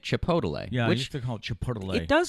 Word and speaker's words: chipotle: been trying i've been he's been adding an extra syllable in chipotle and making it chipotle chipotle it does sound